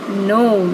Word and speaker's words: gnome: Elsie playing with The Gnome it's not grome it's gnome the correct pronunciation of g n o m e is gnome who took these pictures